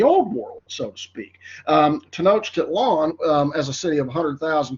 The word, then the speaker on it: Tenochtitlan: Their capital city, Tenochtitlan is how you pronounce that.